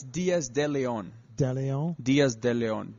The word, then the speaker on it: Diaz de Leon: It's Diaz De Leon.